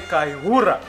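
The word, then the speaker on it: Kayihura: Hey, Kale Kaihura. Yeah. The way you pronounce him.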